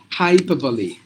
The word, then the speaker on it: hyperbole: should be Adobe and this is hyperbole this R is mute hyperbole like this like like like this hi per Li hyperbole so that means you have to pronounce the e as well so hyperbole that's how